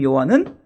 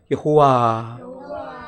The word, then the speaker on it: 여호와: 여호와. 다시 한번 여호와. 히브리적 발음으로는 야훼라고 하는데 그냥 우리가 편하게 여호와.